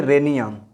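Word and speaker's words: rhenium: यहाँ भी आर के बाद एच आ रहा है तो इसको बोलेंगे रेनियम।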